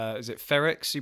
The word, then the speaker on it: Frerichs: But also, I think they said, is it Frerichs? You pronounced this lady who came second. Frerichs, yeah.